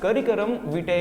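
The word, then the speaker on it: curriculum vitae: Clear है, सीवी का full form guys करिकुलम विटे होता है। वैसे जरूरत नहीं पड़ता, सब सीवी बोलते हैं, कवर लेटर भी बोलते हैं, बट इसका सही प्रोनाउंसिएशन यही है।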